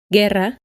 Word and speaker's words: guerra: To keep the G sound when an E or an I comes after it, it is written with a U, which is always silent. Guerra, guitarra. When the U is pronounced,